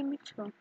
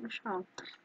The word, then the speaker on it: Mitchell: I'm gonna say Mitchell, because last names are usually Mitchell, not Michelle, even though they can oddly be spelled the same way.